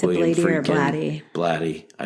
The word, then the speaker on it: Blatty: Blatty.